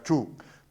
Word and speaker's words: Chung: Salvo que la señora Chung, tengo entendido que es la pronunciación correcta de su apellido, entienda que la democracia